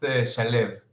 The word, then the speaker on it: Shalev: Yeah, it's an Israeli name, and it's pronounced Shalev.